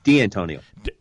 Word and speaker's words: D'Antonio: D'Antonio, is that how we pronounce his last name? D'Antonio.